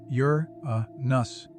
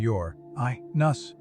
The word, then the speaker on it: Uranus: It even has two commonly accepted pronunciations, Yur Nus and your IUS, as no one has definitively agreed on the matter.